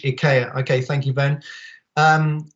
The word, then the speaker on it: IKEA: with people like um ikea or ikea i think is how the swedes pronounce it and maybe actually ben can probably advise me on that swedish ikea okay thank you ben